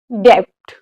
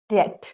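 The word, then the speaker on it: debt: Second is डेप्ट, ये बिल्कुल गलत है। यहाँ पे हमारा बी साइलेंट है, इसको हम प्रोनाउंसिएट करते हैं डेट।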